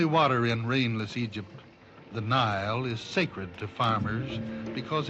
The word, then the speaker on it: Nile: The Nile brings out a poet's smile because it rhymes with crocodile.